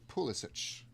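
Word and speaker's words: Pulisic: I think you pronounce it pulich.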